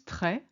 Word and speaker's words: très: It's often applied to the E in the middle of a word to signal it should be pronounced as an open E sound, rather than being silent or forming a diphthong. For instance, très, which is very, and collège, which is college.